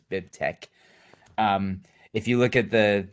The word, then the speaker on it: BibTeX: in the chat bibtex you'll want to pronounce it bib text but you have to do the dumb latex thing so it's bib tech if you look at